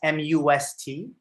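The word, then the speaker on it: mast: something, You say must, M-U-S-T? It's like it's actually like when we write it, we say M-A-S-T, but it's but it is said like must.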